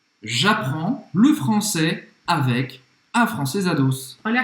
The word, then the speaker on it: j'apprends: J'apprends le français avec afrancesados. Então, j'apprends. J'apprends. Tem um S aqui, mas não se pronuncia.